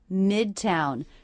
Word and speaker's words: Midtown: Midtown. Stress on the first syllable here, and that is a true T.